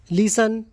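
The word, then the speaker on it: listen: के अंत में तन हो तो उसमें टी साइलेंट राहत है इसके कुछ एग्जांपल देखते हैं 30 से संबंधित एग्जांपल जैसे अपन लिसन कई लोग इसको लिस्टर पढ़ने हैं जबकि ये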